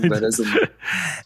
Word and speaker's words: Veras I: É assim que vocês pensaram? Veras? Sim. Veras um. Perfeito. Veras um.